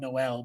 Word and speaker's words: Noel: a little bit better I know it's spelled Noel but it's pronounced no I think he's kind